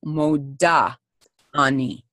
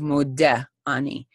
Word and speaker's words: Modah: Modeh is masculine, Modah is feminine. It doesn't really matter. God knows who you are. But just so you know that that's actually the correct way to say it. If you're a woman, to